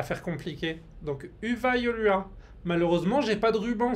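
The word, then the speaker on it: Hyvää joulua: Les Y, ça se dit U. Et les U, ça se dit OU. Pour chercher à faire compliqué. Donc, Uva Yolua.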